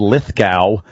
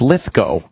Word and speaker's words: Lithgow: Well, they've said Lithgow forever, and it's Lithgow. I pronounce it Lithgow. Apparently, I'm the only one.